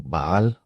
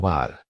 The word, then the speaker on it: Baal: Porque ya ves, los cananeos adoraba a un dios llamado Baal o Baal. Se puede pronunciar de ambas maneras, pero Bal era un